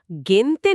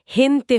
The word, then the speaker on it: gente: গেন্তন না হয়ে হেনতে হয়ে যাচ্ছে।